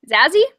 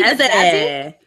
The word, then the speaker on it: Zazie: Zazie, like sassy. Zazie.